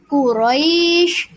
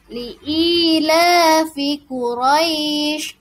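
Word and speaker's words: قُرَيْش: contohnya lafalnya Kuraisin Hai nanti dibacanya Quraisy liila fiquraisin boleh dua harokat atau empat harokat dipanjangkan Hai liila fiquraisin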